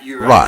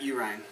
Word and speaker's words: Uhrin: He said it was Matt Uhrin. I'll probably have like a sound bite to play over that, because he said it's U with the river Rhine, in Germany and all that stuff.